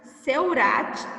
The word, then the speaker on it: Seurat: E Georges Seurat, com T mudo.